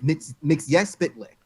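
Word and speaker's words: Mxyzptlk: Mr. McSpitlick. No, in Superman the animated series, it's Spitlick. That's how you say it.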